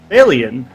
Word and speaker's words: Faolian: And I'm going to keep pronouncing this name incorrectly, but it's Faolian, and that's the way it's pronounced.